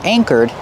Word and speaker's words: anchor: Use a long A like say and day. A, anchor. And the second syllable is the like burger. Together, anchor.